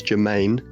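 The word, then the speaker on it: germane: Uh or the fancy legal word for that is Germaine, not like it's pronounced pronounced like Jermaine genus or Jermaine Defoe.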